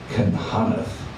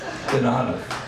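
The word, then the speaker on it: cynghanedd: It's called Canhaneth, which is spelled, of course, Gynghaddd. Canhaneth.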